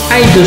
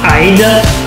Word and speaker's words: Hyde: Hyde se prononce comme Hyde en anglais, qui signifie cache.